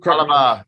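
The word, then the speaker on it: Fallah Bahh: Falabar.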